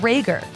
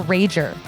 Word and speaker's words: Rager: a note about Sam her last name is spelled RA ger it's pronounced Rhaegar but I for one insist on calling her rager because how metal is